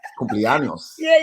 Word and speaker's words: cumpleaños: And Cumpleaños. yeah, that's it. And I was like, yeah, Cupianos, and they was like, okay.